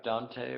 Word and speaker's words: Dante: rud runs into rudant like Dante but pronounced dant not pronouncing the the e uh and then that